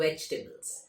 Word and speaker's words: vegetables: वेजिटेबल्स, हाँ, pronunciation is not vegetables, it's vegetables.